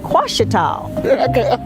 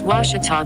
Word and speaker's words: Ouachita: university along your route some folks think the o is a queue and they say quashital hey wachita watch it talk back in texas everybody pronounces it wichita but really it's ouachita